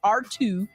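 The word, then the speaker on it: ARTUµ: AI system known as ART-UP, pronounced R2, developed by the Defense Advanced Research Projects Agency, DARPA, in collaboration with the U.S.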